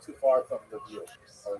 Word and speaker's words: Lviv: So this is in the western of Ukraine, not too far from Lviv, or Lviv as it's pronounced now.